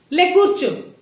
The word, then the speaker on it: ले कुर्चो: हालांकि friends, कूचो कूचो word सुनाई देता है बीच में, लेकिन रा हल्का सा साइलेंट रहता है, ठीक है ना?